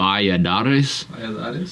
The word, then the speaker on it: Valladares: how do you say his last name V vades okay all right vades vades the wild